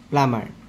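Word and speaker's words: plumber: হইছে পেরট pineapple potato প্লামার এ কথাটা কি এখন পির প্রায় আরম্ভ হইছে কিন্তু এ শব্দ কিতা এ শব্দটা প্লামার প্লামার শব্দ বি টু সাইলেন্ট শব্দ সাইলেন্ট লেটার বাকি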